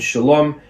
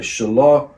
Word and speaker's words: Shalom: calling a person named Shalom he can either swallow the last consonant and say shalom shalom shalom or pronounce it slightly differently Shalom according to